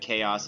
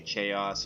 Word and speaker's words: chaos: the herb it's because coming from Russia I pronounce every single letter that's written in probably alright so I'm in school and you know we get to a point where there is you know words like chaos I say che us you know I get corrected right I say really I